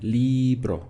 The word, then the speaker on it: libro: understood as I receive libro is another word again with two syllables so I'm saying libro that's where my stress is coming just before last even on say